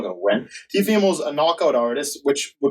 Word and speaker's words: Teofimo: But it looked like Teofimo, or that's how you say his name? Yeah, Teofimo.